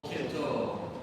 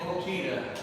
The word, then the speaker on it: Chito: But if you're a Choctaw and I'm teaching you how to say it, I would hope that from here on out you'll say Chito. Don't say cheetah.